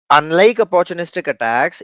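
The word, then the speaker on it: ATT&CK: MITRE has a framework, ATT ampersand CK, which is pronounced as attack framework, adversarial tactic techniques and common knowledge.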